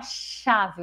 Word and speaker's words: chave: Então, chave, por exemplo, que é escrito com CH, a gente fala chave, o som do X, a gente emite um som apenas.